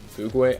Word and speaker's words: fugue: Minecart Madness funky fug Fugue I don't know how you say that word f u GQ e how hold on how how is that pronounced uh Google translate show me Fugue fug yeah okay funky's Fugue whatever that